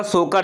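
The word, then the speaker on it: Tso Kar: Next आते हैं, next है हमारा सोकर झील। टी साइलेंट होता है।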